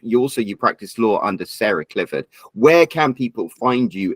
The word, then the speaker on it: Clifford: If you are interested in finding me on the law side, my legal name is Sarah Clifford, and that's Clifford like the big red dog, not Clifford with it.